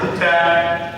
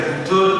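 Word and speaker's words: هُدًى: Maka hudan ini mau jadikan rofa, mau jadikan nasab, bacanya ya tetap hudan, tidak kemudian hudun atau hudin, juga tidak.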